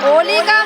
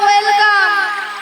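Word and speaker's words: welcome: ওলিকাম নয় বলো ওয়েলকাম।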